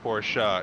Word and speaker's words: Porsche: true Porsche thank you I appreciate it it's pronounced Porsche you uncultured swine I love the actual